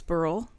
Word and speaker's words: Burrell: And I talked about him yesterday, Douglas Burrell.